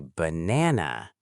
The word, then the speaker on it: banana: Look at the word banana. Three syllables. Ba na. But do we say ba? No, we say banana. Exactly. The first a becomeswah b. The middle a is stressed na. The last a becomes schwah na.